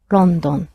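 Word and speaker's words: ロンドン: pronounced tokyo tokyo and the capital of england is london which in japanese is pronounced rondon london so how would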